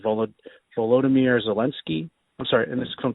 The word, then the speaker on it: Volodymyr Zelensky: want to mispronounce it, but I believe it's pronounced Volodymyr Zelensky.